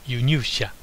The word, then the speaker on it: 輸入者: This word is pronounced 輸入者.